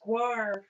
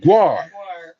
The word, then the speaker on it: Gwar: Caitlin says it's pronounced guar. One word, Gwar. Gwar.